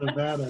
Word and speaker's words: Nevada: It's Nevada. It's an A, not an O.